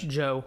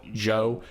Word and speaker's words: Zhou: I think that, there's a good possibility that Zhou, is it, how do you say it, Zhou? Joe. Zhou. Yeah.